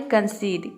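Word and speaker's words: concede: हैं कंसीड कंसीड में आप देख रहे हैं कि वर्ड के अंत में क्या आया है ई आया है उसके बाद डी जो है यह कॉन्सोनेंट है और उसके बाद क्या आया है ई आया है तभी इसका प्रोनंसिएशन हो रहा है कंसीड कंसीड का मतलब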